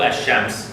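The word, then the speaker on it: الشمس: Once there is alif and lam, and the letter after the lam belong to ash-shams, then we don't pronounce the lam, and we duplicate this letter.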